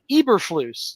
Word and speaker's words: Eberflus: According to Google, Eberflus. Yeah, That's how you pronounce Eberflus.